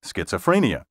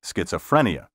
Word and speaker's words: schizophrenia: banks for Rapid assimilation schizophrenia is properly pronounced schizophrenia not schizophrenia the accent properly should be